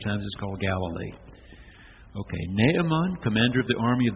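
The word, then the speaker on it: Naaman: and I grew up we pronounced this man's name with two syllables you will see in your new and better translations it should have three syllables naamon naamon commander of the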